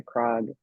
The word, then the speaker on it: Krog: he got to play this character called Krog, whose name was Craig, but because he was now going to be a famous magician, he changed in the story he changed the pronunciation to Krog.